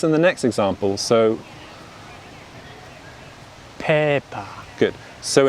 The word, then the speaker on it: Peppa: so peppa good so in british english pronunciation we pronounce we pronounce as pay per pay per good so notice how we unstress that second syllable and the mouth doesn't open and we use the schwa son per per good so